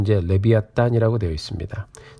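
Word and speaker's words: לִוְיָתָן: 히브리어 성경을 보면 발음은 이제 레비아탄이라고 되어 있습니다.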